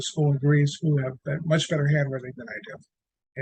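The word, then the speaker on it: μ: Okay, this guy's pronounced mu.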